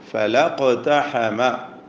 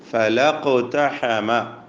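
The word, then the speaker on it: فلا اقتحم: ഫലാ ഇഖ്തഹമ എന്നായിരുന്നു. അത് കൂട്ടി വായിച്ചപ്പോൾ ഫലഖ്തഹമ, അലിഫ് പോയി, വസ്ലിൻ്റെ ഹംസ സ്വാഭാവികമായും പോകണം എന്ന നിയമമാണ്. അത് പോകുമ്പോൾ ഫല എന്ന അലിഫിൻ്റെ സുക്കൂനും ഇഖ്തഹമയിലെ ഖാഫിൻ്റെ സുക്കൂനും രണ്ട് സുക്കൂനുകൾ ഒരുമിച്ച് ചേരുന്നതിനാൽ അലിഫിനെയും ഉച്ചാരണത്തിൽ നിന്ന് കളയണം എന്നതാണ് നിയമം. അപ്പോൾ നമ്മൾ ഓതേണ്ടത് ഫലഖ്തഹമ അൽ അഖബഹ, فلقتحم العقبة.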